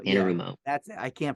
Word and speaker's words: Anarumo: Anarumo, Arano, yeah, Anarumo. that's it. I can't pronounce it, but that Lou, he's a great defensive coordinator.